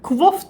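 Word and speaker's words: Kvothe: Bu arada kuvof diye okunuyormuş. Kote kuvof nedir hocam? Yani yazarın kendisi kuvof diyor ama ben hiçbir zaman kuvof demeyeceğim çünkü kote kuvvote kote yani kuvof ne?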